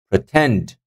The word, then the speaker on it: pretend: Pretend, pretend. Again, second syllable.